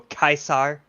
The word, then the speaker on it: Caesar: which is funny because how they pronounce Caesar in there they always go kaisar oh there's a reason